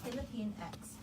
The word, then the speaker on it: Pilipinx: going to be about on our show we pronounce it as Philippine X but to also acknowledge